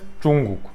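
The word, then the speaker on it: 중국: Ama Korece'de Chungguk, herhangi bir ton falan yok.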